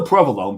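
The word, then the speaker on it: provolone: it was proone yeah provalone mozzarella right but here it's Madel and it's still Pro alone because you know it's Prov Alone um but there's so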